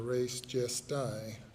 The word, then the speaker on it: res gestae: under the theory of res gestae or res gestae, as some might pronounce it.